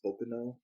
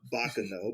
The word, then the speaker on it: Baccano: that has done um one of your favorites okano why do i always say that name wrong baccano baccano like i've said it wrong every single